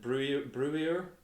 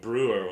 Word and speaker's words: Breuer: I think that's how you pronounce it. Breuer. I'm just going to go with Brewer on that one, actually.